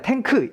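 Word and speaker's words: tank: 넘어가도록 할게요 자라는 단어인데 우리나라 말처럼 우리나라 말로 그냥이 단어를 읽으면 탱크입니다 탱크 이음절 단어가 되죠 근데 영어에서는 탱이라는 이음절 플러스 크라는 파열음으로 이루어진 단어가 바로요 탱크라는 단어예요 차이가 있죠 탱크와 탱크는 차이가 있습니다 요런 거를 또 생각하시면서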